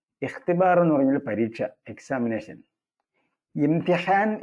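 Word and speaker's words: اختبار: എഴുതിവെക്കുക പിന്നെയുള്ള ഒരു പദം ഇഹ്തിബാറുൻ എന്നാണ് ഇഹ്തിബാറുൻ അതിലെ ഇ ഉച്ചാരണം ഇല്ലാത്ത ഇ ആണ് ചേർത്ത് വായിക്കുമ്പോൾ ഉച്ചാരണം ഇല്ല തുടങ്ങുമ്പോൾ ഇ കൊടുക്കണം ഇഹ്തിബാർ എന്ന് പറഞ്ഞാൽ പരീക്ഷ എക്സാമിനേഷൻ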